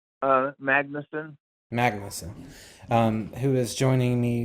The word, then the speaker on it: Magnusen: Is it Magnusen, sir? Either way is good. How do you pronounce it? Magnusen.